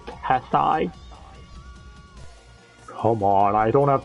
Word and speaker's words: Tessai: Like, actually, it's pronounced Tessai.